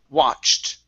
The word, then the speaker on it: watched: Give me a t sound at the end. This is watched.